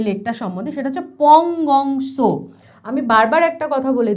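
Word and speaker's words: Pangong Tso: এবার আমরা চলে যাব যে লেকটা সম্বন্ধে, সেটা হচ্ছে পংগং সো। আমি বারবার একটা কথা বলে দিচ্ছি, এই টাইপের যে নামগুলো, সেখানে যে এই যে টি এর ব্যবহার হয়, এটা কিন্তু উচ্চারিত হবে না, কিন্তু তোমরা লেখার সময়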